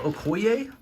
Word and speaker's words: Okoye: the main figures first first up we have Okoye I believe is how you say it uh